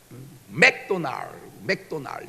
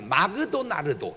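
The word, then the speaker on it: McDonald's: 근데 일본 선생님이 가르쳐가지고 맥도날 이게 발음이 마그도나르도 이렇게 해요. 마그도나르도.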